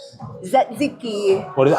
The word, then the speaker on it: tzatziki: And Daddy's eating some lamb with some asiki. Tzatziki. What is it? How do you pronounce it?